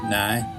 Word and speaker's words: now: In Belfast it's now, usually pronounced nigh, and County Antrim and Derry will put hay onto the end.